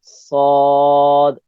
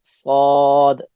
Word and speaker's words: ص: Just sod, sod. Your tongue will go high, rise up in your inside the mouth, and that's the way to pronounce sod.